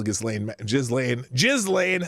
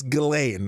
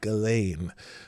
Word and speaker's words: Ghislaine: Well, Ghislaine Maxwell.